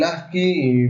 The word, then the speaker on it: ASCII: Código Estándar Estadounidense para el Intercambio de Información, pronunciado generalmente como ASCII.